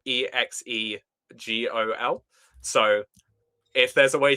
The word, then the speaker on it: Exegol: No, like possibly there's a way you pronounce that properly, but it's if it's spelled EXEGOL.